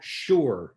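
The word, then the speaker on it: Shure: It's called sure. So, how can I write I'm going to just spell it out and everybody can write this down.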